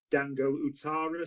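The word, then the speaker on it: Dango Ouattara: I think it's pronounced Dango Utara, so a right winger who's by all accounts seen as the breakthrough star in Ligue 1 this season.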